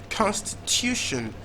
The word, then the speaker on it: constitution: Then the next word we had constitution. Now secondary stress first syllable, primary stress third syllable.